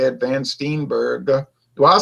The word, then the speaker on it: Van Steenberge: I'm not Dutch, but I am like a kind of German dialect of German, and we pronounce it like von Steenberg, kind of.